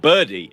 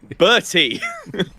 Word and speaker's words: Bertie: I'm not called Birdie again. Bertie. BR. It also doesn't help that I say your I name get is so much Birdie.